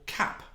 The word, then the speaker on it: CAP: now with something called cap explain what cap is well Akashi says there in the in the description the s AP cloud application programming model cap M although the M is silent as they say and